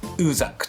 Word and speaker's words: USAG: はい、USAG と書いてウーザックとね呼びます。